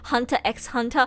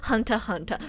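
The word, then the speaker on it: Hunter × Hunter: x i'm pretty sure usually when there's an x in the middle you're not supposed to pronounce it that's what i've learned spy x family no no spy family hunter x hunter no no no hunter hunter lip x lip no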